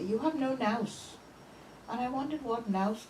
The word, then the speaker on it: nous: Well, nous is the pronunciation of the original. and Nous or nous, whichever Yeah. way you want to say it.